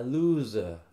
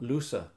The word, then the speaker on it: loser: u whose A loser. a loser Loser. loser Not looser. Looser, más ancho.